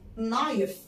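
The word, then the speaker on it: knife: كمان من الكلمات اللي أولها كي ما بتنطقش زي كلمة نايف يعني سكينة نايف الكي مش بتتنطق زي كلمة نو يعني يعرف.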